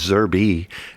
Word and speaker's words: Zerby: uh last name is Zerby and I'm called zerb because people don't pronounce the E it's silent and zerator Nick anyway